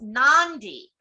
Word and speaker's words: Nadi: Any word with a D has an unwritten N in front of it. Nadi is pronounced Nandi, and the delightful cold marinated seafood dish kokada is kokanda.